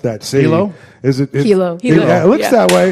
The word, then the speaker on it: Hilo: Hilo. Yeah, it looks that way. Got it. It looks that way, Hilo.